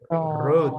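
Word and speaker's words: wrote: Tidak ada right tidak ada, tapi road. Ya, repeat after me. Road. W-nya tidak perlu dipronounce, jadi road.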